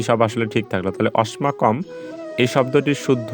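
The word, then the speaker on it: অস্মাকম্: দিয়েছি যেটি আমরা জানি দন্তস থাকলে তার উচ্চারণ সর্বদায় ছ এর মত উচ্চারণ করতে হয় ফলে আমি এখানে দেখো দন্তস এর পরিবর্তে ছ লিখেছি আর বাকি সব আসলে ঠিক থাকলো তাহলে অস্মাকম এই শব্দটির শুদ্ধ উচ্চারণ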